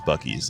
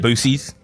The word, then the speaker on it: Buc-ee's: favorite TikToks ever was Drake loves Buc-ee's, like the gas station. Boosies. Yeah, he'd be like, The Boosies. and he taught his mom how to say it that way.